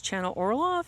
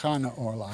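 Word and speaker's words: Chana Orloff: Her name is Chenna Orof and um she was born in 1888 and uh passed away in 1968.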